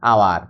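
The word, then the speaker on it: hour: আবার একটা ওয়ার্ডের শুরুতে কনসোনেন্ট আছে, যেমন এইচ আছে, কিন্তু এইচ এর উচ্চারণ হচ্ছে না, আওয়ার।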